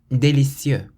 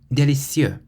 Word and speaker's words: délicieux: Delicious is déliCIEUX, déliCIEUX. So we stress the cieux part at the end. We don't say déliCIEUX or déliCIEUX. We say déliCIEUX, déliCIEUX.